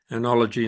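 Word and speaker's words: oenology: for the teaching of anology spelled with an O here by the way OE um anology in the proper Greek way um and vulture um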